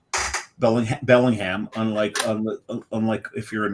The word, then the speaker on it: Bellingham: Um and it's it's pronounced Bellingham. Belling Bellingham.